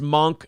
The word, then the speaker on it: Munch: everything else balls deep says it's pronounced monk not Munch well then [ __